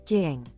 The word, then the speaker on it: Qing: King pada dasarnya dilafalkan Cheng.